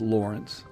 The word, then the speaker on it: Lorentz: And this one is for Alexander Lawrence, Lorentz, but pronounced Lawrence.